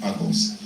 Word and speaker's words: AGOS: or it can be anything so he said agos so I hope I'm getting it right I